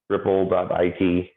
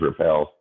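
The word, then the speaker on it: repl.it: I've been using this one a lot, ripple.it. It's pronounced Ripple. I don't know who decided that. When I looked at that word, I thought it was repel.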